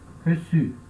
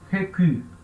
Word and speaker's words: reçu: Reçu. Sem a cedilha, eu leio recu, né? Recu. Mas com a cedilha, eu leio reçu.